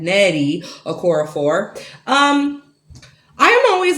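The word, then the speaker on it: Nnedi Okorafor: Death of the Author by Nettie, because I mispronounced her name last time, Nettie Okorafor.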